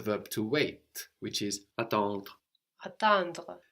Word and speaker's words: attendre: to wait, which is attendre. Attendre. So the E is not really pronounced, although it is in some accents and dialects, but generally you just get as far as the R.